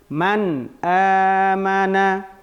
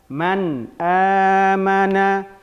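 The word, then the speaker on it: مَنْ آمَنَ: Misalnya kita berhentikan di sini. Man amana. Ini bacaan yang salah. Bacaan yang sebenarnya man amana, man amana minhu.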